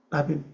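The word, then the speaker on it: רבים: 가지가 성하다요 많다 다입니다 여기 라빔 라빔 라빔이라고 발음합니다 많다 뭐가 많습니까 예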